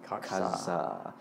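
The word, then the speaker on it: Kajsa: FYI, that is spelled K-A-J-S-A. Katsa.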